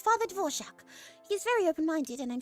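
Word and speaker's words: Dvořák: Dvorak. Dvorak? It's a Czech name, apparently.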